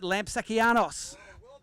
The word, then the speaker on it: Lampsakianos: We call him Lamps, but you pronounce it Lampsakianos.